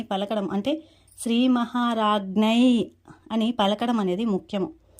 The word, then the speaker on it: శ్రీ మహారాజ్ఞి: అదే మనకి నామావళిలో చూసుకుంటే శ్రీ మహారాజ్ఞై నమః అని పలకాలి. ఇక్కడ చివరన జ్ఞై అని పలకడం అంటే శ్రీ మహారాజ్ఞై అని పలకడం అనేది ముఖ్యము.